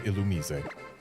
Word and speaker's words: Illumise: So we need a male Roselia, Bulbeat, and Illumise. That's another female Roselia. Still bothers me that it's pronounced illumise officially and not illumis.